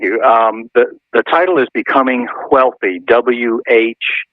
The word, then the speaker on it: Whealthy: wealthy and healthy and if you want to know how to pronounce it if you're familiar with Family Guy it's the same way Stewie pronounces wheat thin and cool hwhip I love that but